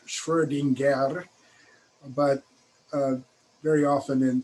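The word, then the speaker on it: Schrödinger: you all for answering so back to the schrodinger equation um you'll see his name spelled with the umlaut oh with the two dots online which are pronounced schwerdinger but uh very often in textbooks in the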